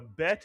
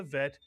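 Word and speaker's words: ב: The bet is pronounced as a B. Without the dog, this dot in the middle, it is pronounced as a letter V.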